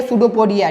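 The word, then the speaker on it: pseudopodia: उसका स्पेलिंग थोड़ा पी से स्टार्ट होता है, इन्हें इससे स्टार्ट कर दिया, ठीक है। स्पेलिंग देख लीजिए, सूडोपोडिया होता है।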